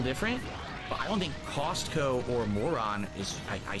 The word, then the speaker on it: Costco: I notice people in the chat joke about how you pronounce Costco as Castco. I say Costco.